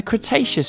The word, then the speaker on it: Cretaceous: lived about 100 million years ago in the cretaceous period kra tay chess so what have we learned we learned